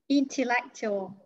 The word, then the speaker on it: intellectual: How many syllables? Intellectual. Three syllables. Are you sure? Three syllables. Chắc là. Yes. Intellectual. Four syllables. Yes, four syllables.